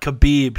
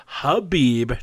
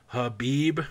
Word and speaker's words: Khabib: People, you don't pronounce the fucking K. It's not Khabib. Stop saying Khabib. Khabib Nurmagomedov and Cerrone are going to square off.